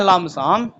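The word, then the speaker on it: lump sum: लंप समम लम समम इसको पढ़ते हैं लम समम लिखते हैं पीपी साइलेंट रहता है बोलते समय ध्यान रखना लम समम या दूसरा हो सकता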